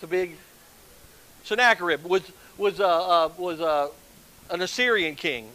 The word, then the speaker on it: Sennacherib: Sennacherib.